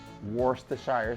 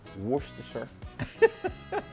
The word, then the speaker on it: Worcestershire: This is, some people say Worcestershire sauce. It's Worcestershire. So my Jamaican people would pronounce it Worcestershire sauce because we pronounce all our vowels, all right? But it's apparently it's Worcestershire sauce, okay?